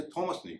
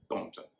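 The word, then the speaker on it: Thomson: इसमें भी बहुत कम शब्द हैं, जैसे THOMAS, इसे थॉमस नहीं कहेंगे, टॉमस कहेंगे। इस तरह थॉमसन नहीं, टॉमसन।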